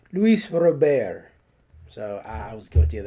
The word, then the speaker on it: Luis Robert: few years ago when everyone was calling Lewis Robert Luis Robert so I was guilty